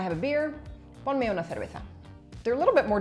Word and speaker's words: cerveza: So anytime that you have a CE, a CI, or a Z in Spain, it's pronounced like th, right? So I'll say it slowly, cerveza, which is like Claire, cer, all right?